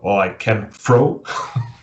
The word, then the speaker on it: Lycanthro: Yeah, the TH is a bitch for. Oh man, you actually pronounced it correctly though. There's people who have. I said in a few of the interviews I've done that I've heard 5 different pronunciations, so you actually said it correctly. The first one or the second one?